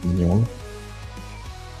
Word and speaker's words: Mignola: Or sometimes with, obviously, Mike Mignola.